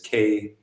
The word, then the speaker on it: Kwesi: If you're in the coast, it's spelled usually with an E. That is Kwesi. Whereas, which is the